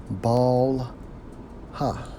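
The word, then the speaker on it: בלהה: to the Hebrew is Strong's age 10 91 pronounced as ball ha okay which means Terror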